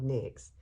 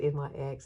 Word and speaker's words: NYX: And, you know, I used to call it NYX, and somebody corrected me and said it's NYX.